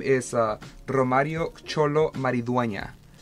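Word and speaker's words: Xolo: Is it Cholo or Zolo? It's X-O-L-O. Cholo. Cholo, yeah.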